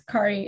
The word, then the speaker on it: Kari: It's Kari, actually. The confusing one here with the differently pronounced name.